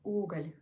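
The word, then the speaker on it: уголь: Try to say ooh like a little bit longer. Oogle. Oh, like the German U? No, you just need made accent on oo.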